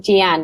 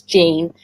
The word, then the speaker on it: Jean: If there's time at the end, I would like to hear about how I keep saying Jean because that's the way it's spelled, but it's Jean.